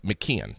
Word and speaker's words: McKeon: Mckon McKon.